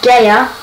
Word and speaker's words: Bayer: As you can see there, I am Bayer Leverkusen. And that's their name, yeah. I looked it up, and it's Geyer Leverkusen.